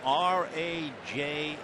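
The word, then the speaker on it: Rajai: going to Oakland at first name r a j a i pronounced Raj and it means king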